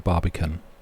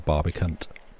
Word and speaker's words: Barbican: Be a Barbican, not a Barbicant.